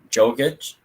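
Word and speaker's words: Jokić: All right, so for MVP, I had Jokic. Is that how you say it, Jokic?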